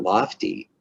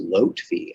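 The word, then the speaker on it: Lotfi: and i said lofty well look it's not lofty it's actually pronounced lotfee l-o-t-f-i so in order to avoid making a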